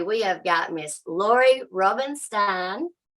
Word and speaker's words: Rubinstein: I'm your host, and today we have got Miss Lauri Rubinstein. Did I say it right? Rubinstein. Rubinstein. Yeah, got it.